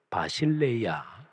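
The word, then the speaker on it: βασιλεία: 하나님 나라 람 단어입니다 헬라어로 빠 신 레이 야 라고 발음합니다 이 단어는 주권적인 다스림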